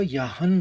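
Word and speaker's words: ह्यहं: यदि ह के संग य जुड़ा है तो यहन हो जाएगा।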